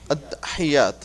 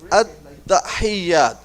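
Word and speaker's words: التحيات: So I'm gonna break it like at-tahiyyat. At-tahiyyat. Ha. There is a zir underneath ha.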